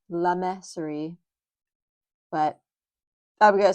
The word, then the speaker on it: Le Mercerie: I looked up the pronunciation and I have always just been really bad with French. So, it should be La Meserie, but I'm going to say it how I say it.